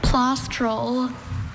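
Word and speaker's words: plaustral: Plastrol. Are there any alternate pronunciations?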